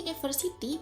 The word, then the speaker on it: university: huruf konsonan contoh university di sini kata University berawalan huruf u Tapi ketika diucapkan dalam bahasa Inggris bunyinya menjadi University pengucapan huruf awalnya adalah Ye bukan up yang mana huruf y